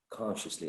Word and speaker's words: consciously: with a c uh where would you place a stress consciously consciously consciously in the first one in the first one exactly exactly consciously excellent all right and um